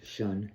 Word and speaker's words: Sean: I go by Ocean though, as my name is supposed to be pronounced Shun, but it's hard to tell people to say Shun.